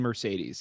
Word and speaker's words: Mercedes: the white sox guy's name correctly you're mean mercedes it's how you say his name i'm just